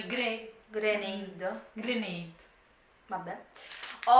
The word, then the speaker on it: Grenade: Granata. Granata. Granata. Si pronuncia gre grenade.